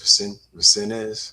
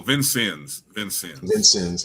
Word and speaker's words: Vincennes: He spent 1 year at I don't know how you pronounce that, Vincennes University in Indiana. Oh, Vincennes.